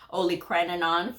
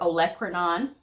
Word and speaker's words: olecranon: had the experience of I used to say only crenon for olecranon so I mean but